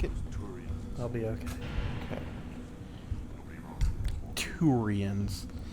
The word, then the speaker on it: Turians: i'll be okay okay turians i hate how how it's said versus how it's spelled t-o-o versus t-u-r two ryans place your bed on